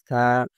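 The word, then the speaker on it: ث: সা, জিহ্বার আগা দাঁতের আগার সাথে মিলায় দিতে হবে নরম করে। অনেকে বলে সা, সা না, সা হরফ তো এমনভাবে উচ্চারণ হয়, সিন জবর হবে সা। এটা সা হরফ, সা পাতলা হবে।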